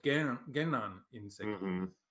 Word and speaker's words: Genan: And so I put just one N in the Genan, but it could be two N's in the middle of there, just to make it easier for English speakers to pronounce it. Right. And because that N is sounded.